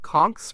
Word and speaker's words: Conch: They are called Conchs, pronounced Conch after the large sea snails found in the area.